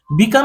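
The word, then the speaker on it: becalm: বিকাম শান্ত করা স্থির করা বা প্রশমিত করা। বিকাম বিকাম বিকামিং। এখানে দেখো বিকাম বানানটা একটু দেখে নাও। বিকাম বানানটা বি এম অর্থাৎ এখানে এল এর উচ্চারণটা সাইলেন্ট আছে।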